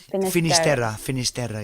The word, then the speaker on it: Finisterra: world, and so termed Finisterra in Latin, end of the land. Finisterra. Yeah, Finisterra. Right. Is that how you say it in Spanish? Finisterra is how you say it in Spanish.